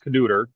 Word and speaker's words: Knutter: So it's Knutter. It's a Norwegian thing. It's all Okay. good. I'm Like I sorry. said, nobody ever gets it right. Sometimes I even forget how to pronounce it. So we Norwegians, we love our consonants.